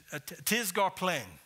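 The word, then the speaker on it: τίς γὰρ πλὴν: In the Greek, that phrase is tisgarplein. Tisgarplein. You pronounce that P-L-E-N, plein, kind of like tattoo.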